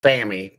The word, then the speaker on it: SAME: Now we're working on that little it's called Sammy, but it's spelled SAME tractor.